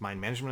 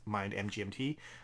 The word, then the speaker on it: MIND MGMT: did the fail faster my management is pronounced mine management I think that's key some people might not know that and I've come across that they think it's mine MGMT kind of like the band I guess and then explaining